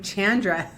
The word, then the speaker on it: Chandra: your name again I'm Chandra and and how do you say that with the hard CH that's right okay cool